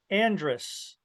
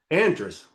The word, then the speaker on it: Andres: country you're in okay when I when I was in Ohio everybody my family all pronounced it Andress Andrus Andrus and then uh I came to California and all my relatives pronounce it Andres Andres okay yeah all right it's actually German okay um but I think it was probably originally Enders and because that's a